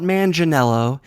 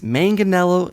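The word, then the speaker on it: Manganiello: a similar name as manganello the Director of the upcoming Logan James Mangold m n it's not Mangold it's not manganelo it's manganello and mangled James mangled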